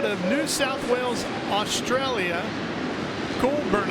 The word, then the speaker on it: Goulburn: Goulburn, I believe, is the proper way to say the hometown.